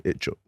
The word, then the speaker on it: Ichtchouk: Ichtchouk. Yeah, you pronounced it right as well. I've been working on that, yeah, you know. Ichtchouk, yeah, I've cool.